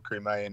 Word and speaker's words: Crimea: But yeah, it was just like, he's saying all this as if everyone doesn't know that Zelensky wasn't involved in the whole Crimean invasion.